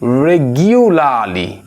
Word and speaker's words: regularly: I would say that you should pronounce this word as regio, not gio, regularly, হ্যাঁ নিয়মিত।